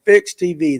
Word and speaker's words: PHYX TV: You can follow it when they have a tournament on Fix TV. That is PHYX TV. Correct? I said it right. PHYX. It's a different, but it's Fix TV.